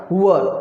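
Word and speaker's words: were: वर। Pronunciation यहाँ पर वेयर नहीं करना है, प्रोनाउंसिएशन क्या है? वर।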